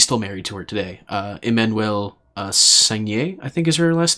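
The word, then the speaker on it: Emmanuelle Seigner: both star co-star really, Emmanuelle Sagnier. I think is how you pronounce that name. It's French. Sounds French to me.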